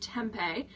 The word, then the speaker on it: tempeh: Made from organically grown soybeans, pronounced tempeh, is high in protein and a good source of iron.